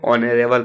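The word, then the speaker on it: honorable: तो 38 में क्वेश्चन देखिए, यहाँ पे भले आपका एच दिया गया है, ठीक है, पर एच क्या होता है आपका साइलेंट होता है, इसको ऑनरेबल पढ़ते हैं।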